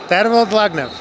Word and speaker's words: Dlagnev: Tervel Dlagnev.